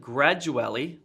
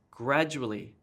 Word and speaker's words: gradually: this gets stressed and instead of gradually that's wrong it's gradually gradually this gets emphasized here instead of shaking